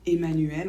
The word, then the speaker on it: Emmanuel: devant la lettre M cela dit on prononce pas toujours en quand c'est suivi par un deuxième m par exemple le mot femme ou mental ou le prénom Emmanuel encore on ne prononce pas en donc pas toujours exemple avec les